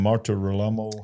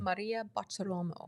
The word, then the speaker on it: Maria Bartiromo: Kash Patel and Dan Bongino were together interviewed by what's her name, Marta Rolamo. How do you say her name? Maria Bartiromo.